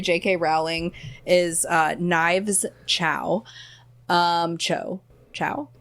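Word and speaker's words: Chau: Chow? It's Chow, but it's spelled the Cho.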